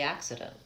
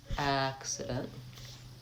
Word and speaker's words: accident: She told me about the accident. All right. So, I definitely need accident. And that's accident. First syllable stressed.